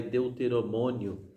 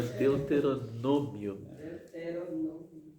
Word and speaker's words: Deuteronômio: o livro do Deuteronômio Esse é uma palavra que às vezes muita gente tem dificuldade de pronunciar né Realmente sai deuteromônio ela Deuteronômio apresenta-se como um longo